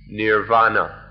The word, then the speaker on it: Nirvana: the supreme thing is nibana or the sanskrit pronunciation is nirvana so everything we've said